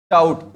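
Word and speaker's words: doubt: पी दिखाई दे दे वहां पर वो बी क्या होगा? साइलेंट होगा।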